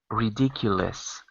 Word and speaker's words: ridiculous: Not less, but lis. Ridiculous.